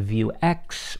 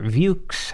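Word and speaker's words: Vuex: come across a tool called view X or views however you want to pronounce it you can safely ignore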